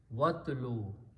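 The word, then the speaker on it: وَاتْلُ: When you combine with waw, you do not pronounce this alif either. It becomes hamzatul wasl. So the word becomes watlu, and recite.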